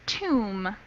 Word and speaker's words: tomb: one small note here this B is silent so the word is Tomb to tomb tomb yeah Tom mhm all